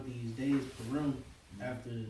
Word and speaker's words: Purim: Purim. Purim.